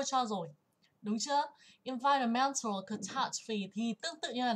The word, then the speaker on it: catastrophe: Hôm trước cô dạy nó tương tự như là từ catastrophe. Đấy, chú ý về trọng âm nha. Catastrophe. Catastrophe. Trọng âm và âm tiết thứ hai. Nhưng mà catastrophic thì vào thứ ba.